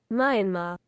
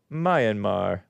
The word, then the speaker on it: Myanmar: me let's let's confirm Myanmar pronounce search this is the British Myanmar Myanmar Myanmar which I like Myanmar or the American English Myanmar Myanmar okay cool thank you Myanmar Myanmar or Myanmar take your Pick mine ma.